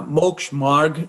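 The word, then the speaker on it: Moksha Marg: meant by the the path of liberation the maksha merk in jainism and i'm sorry if i mispronounced it uh mokshmarg right marg means the path as you said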